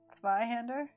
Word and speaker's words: Zweihänder: A in Zweihänder is pronounced more like the E in Ben, so Zweihänder.